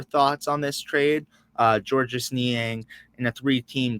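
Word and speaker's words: Georges: he was like the the S is silent at the end of the name so it's ends up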